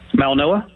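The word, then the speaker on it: Mauigoa: How about the big offensive tackle from Miami whose last name is pronounced different from the way it's spelled? Mal Noah.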